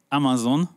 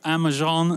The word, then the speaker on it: Amazon: from the word "parmesan," which the voice actor had pronounced as "par-me-zhan." As a result, when Jeff Bezos asked about Amazon, he heard "Ama-zhan" instead of "Amazon."